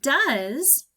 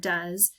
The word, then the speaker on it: does: have two letters that work together to make the sound it's O and E in this word this is kind of our tricky part in this word and we just have to remember it so now we have the last sound I hear is the sound but it's not a letter a letter Z in our word does it's actually an S so I'm gonna put